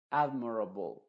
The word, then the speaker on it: admirable: Admirable, admirable, rable. ¿Te das cuenta? No es admirable o admirable, sino admirable, rable.